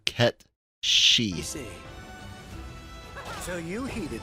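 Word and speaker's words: Cait Sith: I know they're gonna pronounce it like Ket Sith or something like that, but the actual Gaelic Celtic I believe is similar to Ket Shi.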